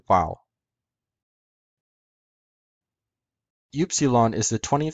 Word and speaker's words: Upsilon: the Greek cow epsilen in classical Greek is pronounced Upsilon just like in Koine Greek in modern Greek is pronounced FC lung without the second accent the name Upsilon might